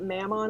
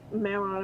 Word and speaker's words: Mammon: We went into the cave, found out that it was basically like isn't it Mammon is the way we're pronouncing it?